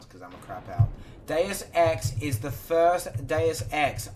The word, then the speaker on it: Deus Ex: Deus Ex is the first Deus Ex. I know it's not spelled Juice Ex. He's googling it now and he pronounced it Juice Ex.